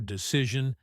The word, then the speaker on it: decision: The stress on the second syllable for decision and results.